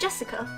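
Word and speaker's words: 朱志香: same kind of weird name anyway BL is pronounced Jessica she's dad's older brother's daughter that older brother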